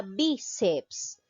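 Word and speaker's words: bíceps: a tildar por ejemplo la palabra biceps donde lleva la mayor fuerza de voz en la sílaba be be ceps lleva la mayor fuerza de voz en la penúltima sílaba terminen s según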